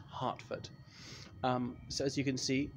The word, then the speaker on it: Hertford: general John Burgoyne's house it's spelt Hertford Street but pronounced Hartford so as you can